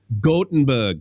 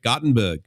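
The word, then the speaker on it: Gothenburg: gotenberg sweden right gottenberg is it gotenberg or gottenberg is it like goat goatenberg i can't remember do you know how to pronounce that chris gotten big oh yeah it's not gotham no it's cotton bag yeah got got or goat is it a long o oh no no i got short gorton berg cotton bag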